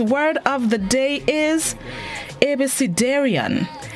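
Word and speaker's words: abecedarian: see this morning's word of the day is ebysidarion abc darien it's spelled a b e c e d a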